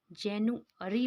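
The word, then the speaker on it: January: हम लोग क्या जनवरी को जनवरी ही बोलते हैं, लेकिन एक्चुअल में इंग्लिश में इसको जनवरी को जैनुअरी बोलते हैं, ठीक है?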